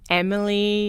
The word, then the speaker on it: Emilie: can find me so it's my name so Emily but you spell it for me yeah okay so it's em